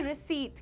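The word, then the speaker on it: receipt: लेकिन पी को साइलेंट रखिए। जैसे साइकोलॉजी में पी को साइलेंट रखते हैं वैसे ही।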